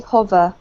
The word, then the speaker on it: hover: over with you um this one here is hover hover over over um so a nice short o okay hover over yeah that's better